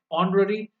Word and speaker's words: honorary: So, guys, we all know that in these words are honest, honorable, heiress, okay, honorary, the H is silent, and the dominant sound is of O.